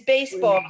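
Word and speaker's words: béisbol: he plays baseball and the word for baseball is baseball but it's spelled b-e-i-s-b-o-l how would you say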